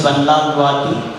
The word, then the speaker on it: Vanlalruati: Am I pronouncing your word properly? Vanlalruati? Okay. So she is Miss Vanlalruati from Mizoram University as well.